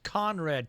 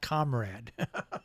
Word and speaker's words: Conrad: All right, and that's Conrad Tao, not Comrade. Conrad. Yes. No, you said you said it right. I just for the people that are listening who think Comrade Tao. No, you said it right. It's Conrad.